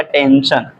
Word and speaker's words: टेंशन: एस हमारा है, ठीक, उसको हम पढ़ेंगे बड़े स में, तो जाएगा टेंशन।